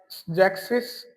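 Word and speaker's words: sechzig: 60 को बोलते हैं हम जैक्सिस। यहां पर भी एस नहीं लगाना जैक्स का ओनली सीधा जैक्सिस।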